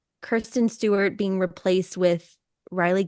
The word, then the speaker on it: Kristen: Turner and Kristen Stewart I probably missed pronounced her name earlier as Kiren Kristen Stewart with Riley Kio